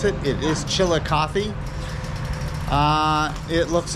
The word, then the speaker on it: Chillicothe: Google that so I would know how to pronounce it it is chilika uh it looks like it's going to be